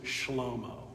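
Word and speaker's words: שלמה: Solomon is Shlomo.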